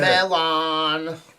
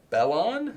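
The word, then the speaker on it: Mellon: Melon. Oh, is that what it is? What? Bellon? Melon. Melon? Yes, it's pronounced melon, but it's literally just melon. Oh, because I don't have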